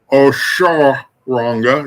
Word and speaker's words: Oshoranga: Oshoranga is how it's pronounced.